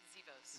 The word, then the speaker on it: Zivos: Zivos. Zivos, okay, I thought the V was an R.